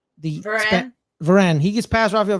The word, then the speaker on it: Varane: Varane.